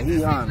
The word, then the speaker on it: Gijón: Oh, Gijón. Is that how it's pronounced? Yeah, Gijón. Gijón.